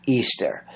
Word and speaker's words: Ishtar: Samaris became known as Ishtar, which is pronounced Easter, and her moon egg became known as the Easter egg.